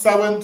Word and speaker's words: Samhain: So it's spel but it's pronounced sin.